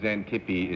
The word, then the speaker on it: Xantippe: I think maybe I should explain that Xantippe is spelled with an X at the beginning. That's what I mean, expect. Yeah, but you pronounce it Z, you see.